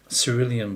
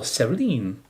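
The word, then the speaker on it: cerulean: and maybe cerillion blue or cerline, depends how you pronounce it.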